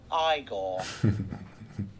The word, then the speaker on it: Igor: frowick fron Ste critical thinking you must be eigor now it's pronounced igore my grandfather used to work for your grandfather